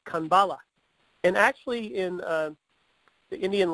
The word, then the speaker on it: Kanbala: It's pronounced Kanbala.